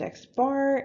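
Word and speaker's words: x̄: gonna see this symbol used a lot it's pronounced x-bar and it is the average of all of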